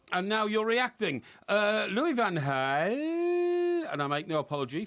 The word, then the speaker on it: Louis van Gaal: being good enough and now you're reacting uh louis van gaal and i make no apology for pronounce it like that because that's the way